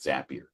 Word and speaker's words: Zapier: stage of how familiar are you with with zappier and that that's the first thing is is how do you pronounce the word uh zapier I always heard zappier makes you happier zapier